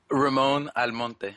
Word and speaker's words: Ramon Almonte: Ramon Almonte.